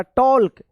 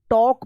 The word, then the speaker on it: talk: अब देखिए यहाँ पे TALK, इसको क्या पढ़ेंगे, टाल्क या टॉल्क, टॉल्क नहीं होगा, ये होगा यहाँ पे भी एल साइलेंट रहेगा, टॉक पढ़ेंगे, TALK, टॉक। इसीलिए तो जब कोई शुद्ध